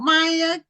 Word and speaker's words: Maya: so, uh, uh, so Maya, welcome to Black Authors Matter TV. Now you do pronounce it Maya and not Mia, correct? Yes, ma'am. It's Maya.